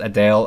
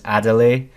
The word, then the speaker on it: Adele: the music section and I mispronounced Adele as adelay which she humorously corrected me I noticed a Lana